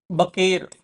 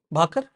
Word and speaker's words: भाकर: That was Manu बकेर। इट्स बाकर और बकेर? भाकर। भाकर का spelling अलग होता है। What's the pronunciation Jaya? भाकर।